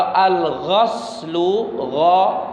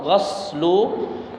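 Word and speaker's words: غَسل: Kalau al-ghaslu, ghaslu, maka artinya mencuci tangan. Ya, mencuci piring, mencuci tangan dan yang lainnya. Tapi kalau al-ghuslu dengan dhammah, maka itu artinya adalah mandi besar. Jadi jangan sampai salah membacanya.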